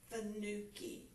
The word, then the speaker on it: Fanucchi: He said, fa as in do re mi, nu as in not old, and ki as in lock-in, Fanucchi.